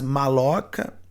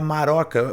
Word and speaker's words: maroca: Aliás, maloca na língua tupi não é assim, tá? Seria maroca. O L eles não tinham, o R forte, né?